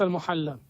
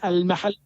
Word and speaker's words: al-Mahalli: It is not al-Muhalla. What it is? You don't understand. What it is? It is al-Mahalli.